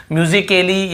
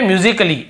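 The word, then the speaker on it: musically: अलग से ए का हो रहा है क्या, म्यूजिकली या म्यूजिकली या म्यूजिकाली ऐसे हो रहा है क्या, नहीं हो रहा है ना।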